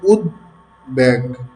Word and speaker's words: উদ্বেগ: উদ এবং উদ উপসর্গযোগে গঠিত শব্দের এই যে খণ্ডত আছে, খণ্ডত যেটা দ এর উচ্চারণে আসে, এর সঙ্গে বফলা যুক্ত হলে উচ্চারণ স্বাভাবিক থাকবে।